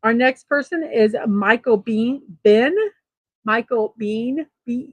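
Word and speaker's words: Biehn: 65 years old our next person is Michael Bean Ben Michael Bean be e pronounced like the be e in Michael American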